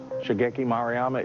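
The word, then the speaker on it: Shigeki Maruyama: Um, Shageki Moryama. Shaggeeki Maryama is the correct pronunciation.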